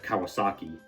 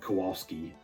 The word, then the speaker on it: Kawasaki: Which, by the way, I think I said his name wrong in the first Kirby Air Riders direct review. Like I said, Kowalski, as if I'm talking about the penguin from Madagascar.